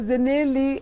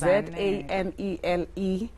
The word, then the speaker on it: Zanele: Sometimes they wake up as in like, oh, Zanele, and like, no. It's Zanele, which means the last born or enough.